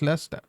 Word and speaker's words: Leicester: You just ignore the letters between the first syllable and the ester.